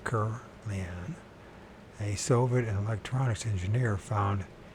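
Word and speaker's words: Kirlian: Semyon Kurlian, that's how to pronounce it right, Kurlian, a Soviet electronics engineer, found he could photograph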